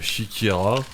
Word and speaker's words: Siekiera: Mais ouais, je pourrais vous reconseiller Shikira, ce qui s'écrit S-I-E-K-I-E-R-A.